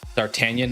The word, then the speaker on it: D'Artagnan: D'Artagnan. Oh, that's the pronunciation. Yeah. Yeah, you probably don't pronounce the G, to your point.